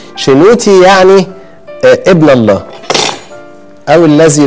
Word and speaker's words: شنوتي: بعض اللي هو التي، فيبقى شي نو تي اللي هي ايه بقى؟ شنو ده، هو ده اسم شنوتي. شنوتي يعني ابن الله او الذي لله، شي نو تي.